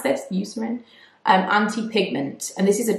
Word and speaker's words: Eucerin: So the Eucerin, I think is how you pronounce this, Eucerin, anti-pigment.